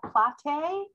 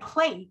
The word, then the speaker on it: Platte: it's it's um plait it's spelt like plate but it's pronounced plat however my my husband